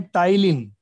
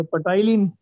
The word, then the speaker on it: ptyalin: पटाइलिन। लेकिन पी तो साइलेंट है यहाँ।